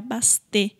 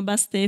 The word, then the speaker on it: Bastet: figura que é a Bastê. Acho que é assim que se pronuncia, né? O T talvez seja mudo, mas se escreve Bastet.